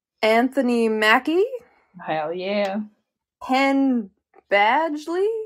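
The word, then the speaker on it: Badgley: Hen Badgely. Badley. Badgely. Yep. Never know how to say his last name. I always want to say Baggley. No. Badgely.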